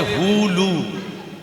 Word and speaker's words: হুলু: উলু নয়, উচ্চারণটা হবে হুলু। হু লু, উলু নয়, হুলু।